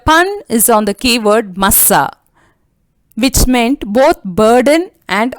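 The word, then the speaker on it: מַשָּׂא: In the ancient Hebrew language, the word Massa, pronounced by stressing, means burden or being a burden to someone. It is usually uttered by lifting up the voice, Massa. Massa, when pronounced lightly, means oracle, a word from God.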